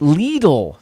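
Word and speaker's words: Lidl: spelling it that way l-i-d-l little pronounced legal thank you rhonda uh leedles is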